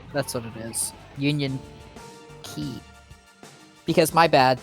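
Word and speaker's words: Union χ: hearts unchained or no union x that's what it is union key because my bad the x is actually supposed to be pronounced key oh the door was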